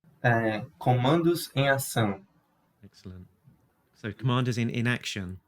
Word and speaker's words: Comandos em Ação: Can you say that again, just so I can get the get the pronunciation? Comandos em Ação.